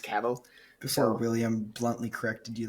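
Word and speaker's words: Cavill: when I have because I pronounce it cavil for so long before knowing it was pronounced caval before William bluntly corrected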